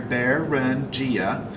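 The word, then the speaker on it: Beringia: exposed and that is barangia baruchia as you can see the pronunciation here bear run gia was a land bridge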